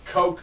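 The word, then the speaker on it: Koch: a german word apparently you don't even pronounce the ch it's like co it's just co primetime oh but either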